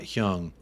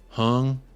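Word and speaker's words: Heung: I know you like to mispronounce names on purpose, but FYI, Hyung is pronounced like the Master P song. Make him say, not Hyung. Hung.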